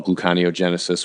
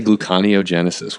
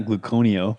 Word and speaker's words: gluconeogenesis: place so that unit how do you pronounce that I say gluconeogenesis what do you say gluco I think glucose buko gluconeogenesis not gluco neo you know what you